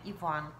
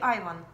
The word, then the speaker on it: Иван: А вообще стараются говорить правильно, произносить имя Иван. Когда он только пришел, ну, было же написано Иван, да, и все читали Айван. И он первое время был Айван.